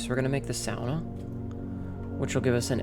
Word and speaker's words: sauna: Yeah, sauna. And yes, I pronounce it like a fin.